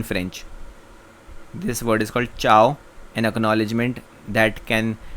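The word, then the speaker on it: ciao: This word is called चाओ, N acknowledgement that can be used to से hello and good bye. Aloha is Hawaiian and चाओ is Italian.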